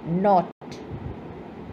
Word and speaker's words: knot: Number seven, knot. Silent letter is K.